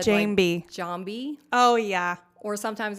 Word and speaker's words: Jeambey: always say it wrong kind of it's Jane B Jane B yes I always say okay I always say jam I know a lot